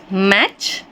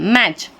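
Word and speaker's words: match: बोला जाता है सीटी मैच हम मैट नहीं बोलते इसको टी को नहीं पढ़ते हम मैच लास्ट में सी मैच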